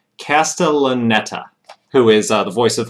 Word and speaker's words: Castellaneta: to figure out how to say his name castellaneta who is the voice of homer from the